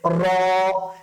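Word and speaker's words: ر: তারপরে হচ্ছে র। এই র উচ্চারণটা করার সময় না আমাদের ভেতর থেকে এক ধরনের উচ্চারণটা প্রকম্পিত হতে থাকবে।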